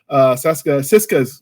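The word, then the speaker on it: Sisko: The kid that played Siska's, was it Siska? Is that how you say it? Yeah, Cisco.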